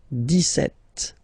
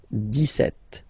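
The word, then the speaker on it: dix-sept: it's clear but then for the pronunciation Des set okay so you don't insist on the deset Des set deset okay then so you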